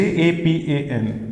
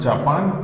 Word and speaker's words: Japan: this is the correct spelling next one j j-a-p-a-n it is not japan it's japan i have told you why in german is pronounced as why in german is pronounced as